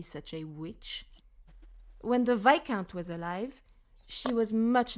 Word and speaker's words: Viscount: witch when the VIS VI count sorry not Viscount notice this the pronunciation there Viscount is actually VI count the S is silent there like the other word